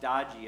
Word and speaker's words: Doge: That may not be what they intended when they adopted the word Doge, pronounced Dodgy, I think.